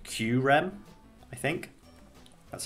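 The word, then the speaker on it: Kyurem: the fact that kyram i looked it up it's spelt is like q rem i think that's how it says to pronounce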